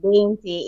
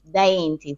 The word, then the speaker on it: Diainty: But my name is spelled a little tricky, It's not Dainty, it's Diainty.